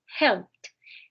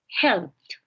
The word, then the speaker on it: helped: Helped. Como termina en P, esa ED va a sonar como una T. Helped. Repeat, Juliani. Help. Helped.